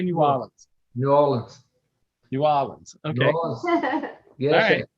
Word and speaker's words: New Orleans: New Orleans. Did I say it right? New Orleans. Yeah. And Dean, you're from close to New Orleans. How do you say New Orleans?